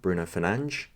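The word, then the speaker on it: Bruno Fernandes: have thrown him a uh thrown in a bruno fernandez or if you play fifa bruno finance um as the commenter says which is actually the correct pronunciation pronunciation but it does make me laugh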